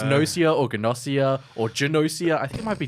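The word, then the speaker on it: Gnosia: I still don't know how to pronounce it. Gossia. I don't know if it's Nosia or Ganosia or Janosia.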